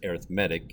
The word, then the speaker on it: arithmetic: And yes, that is the way it's pronounced, arithmetic.